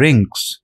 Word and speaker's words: wring: Kakkar explanation होता है रिंग इस वर्ष के अंदर डब्लू हमारा साइलेंट होता है तो हम इसको और